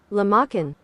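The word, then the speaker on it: lahmacun: Let's see how they pronounce it here. Lamachin.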